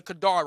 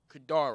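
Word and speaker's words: Kedar: now let's get me the Kadar rights with a Q it's spelled q e d a r Kadar rites Kadar rites we're gonna deal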